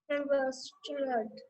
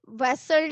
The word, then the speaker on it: wrestled: Wrestled. वेसल्ड नहीं, wrestled, W is silent, okay, wrestled बोलो, everybody repeat, wrestled, wrestled, Wrestled.